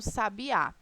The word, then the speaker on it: sabiá: Em sabiá, qual é a sílaba tônica de sabiá? O a final, né?